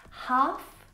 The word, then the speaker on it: half: Half, not half.